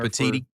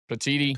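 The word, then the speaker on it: Petitti: Commissioner Petiti. Patiti.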